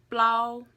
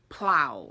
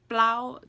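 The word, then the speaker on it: plaub: is four we have plow plow plow now it's spelled p l so it's not like plow okay it's plow it's a very subtle pl and you have to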